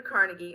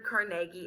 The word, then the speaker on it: Carnegie: Now, two of the ones that I really want to talk about the most are Andrew Carnegie, or Andrew Carnegie, it just depends on how you want to pronounce it, and John D.